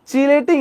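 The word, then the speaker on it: chelating: বলা হয় কিলেটিং agent but আমরা যখন কেমিস্ট্রিতে পড়ি ইংলিশে যখন পড়ি সো এগুলো হচ্ছে চিলেটিং এজেন্ট এগুলা কি চিলেটিং এজেন্ট বলা হয় একচুয়াল প্রোনাউন্সিয়েশন টা কি চিলেট বা চিলেটিং এজেন্ট বাট বাংলায় কি বলা হয় কিলেটিং এজেন্ট বুঝতে পারছো এখন আসেন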